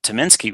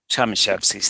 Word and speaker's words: Tomaszewski: Venado Declaration, and Dan Tominski was there. If I'm pronouncing his name right, I think he's Tomaszewski. Tomaszewski, thank you.